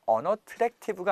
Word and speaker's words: unattractive: TR 발음은요, true라고 나지 않고 true 이런 식으로 날 거기 때문에 unattractive가 아니고요, unattractive. 자, 한번 따라해 볼게요.